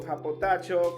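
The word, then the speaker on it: ὑποτάσσω: la palabra en griego a potasio diga conmigo a potasio suena como chino verdad Pero así se pronuncia en griego japotacho que significa por debajo de él la parte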